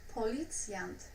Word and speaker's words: policjant: Okay, and the next one, policjant, a police officer. Policjant. Bruising. Policjant. Policeman. So here we can easily divide it into nice syllables.